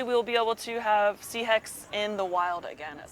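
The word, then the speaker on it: Sihek: It's sea heck, or Sea heck, also okay.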